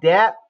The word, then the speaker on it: debt: So this one's going to be called debt. Debt. You don't pronounce the B.